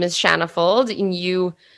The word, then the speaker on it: Shanna Fuld: and what you do sure my name is shanna fold and you pronounce my name precisely correct so thank you